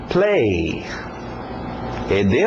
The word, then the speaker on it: played: Play. ED no final no passado, mas só o som de um D. Played. Para no D.